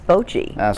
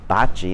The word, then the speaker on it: bocce: Yes! It's bocce. Some of the Easterners, you know, you hear them say bocce, and I'm thinking that's because they say, you know, a car is a car.